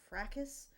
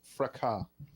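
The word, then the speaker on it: fracas: that was the Twitter frackus. How do you say that word by the way? You must know. Telanar, I might. It's pronounced fraka. Fraka. Silent s because it's French word.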